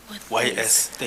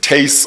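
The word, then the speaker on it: Thys: The first one is Teis Kwebu. Teis Kwebu. Teis Kwebu. Okay. This isn't T-U-I-S. I think it's written T-H-Y-S. Teis, Oh.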